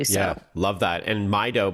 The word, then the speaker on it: Mydoh: And Mido, by the way, is spelled MYDOH.